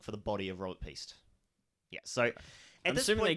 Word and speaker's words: Piest: They go searching for Robert Priest.